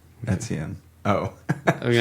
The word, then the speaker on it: Etienne: Sorry, Travis Etienne. Wait, how do you say? What's the pronunciation of that, Daniel? Etienne. Etienne.